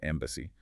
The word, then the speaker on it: EEMBC: Eventually, the EDN Embedded Microprocessor Benchmark Consortium, or EEMBC, pronounced Embassy, was formed.